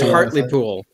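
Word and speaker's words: Hartlepool: vision for heart uh how do you pronounce the name of that town hardlpool i think it's hardly pool heartly cool right okay yeah i'm curious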